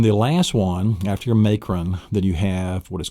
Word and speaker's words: macron: Then you have the fifth one is called the macron. And the macron is the horizontal line. You have it actually in the word macron, M-A-C-R-O-N, may. It's the long A sound.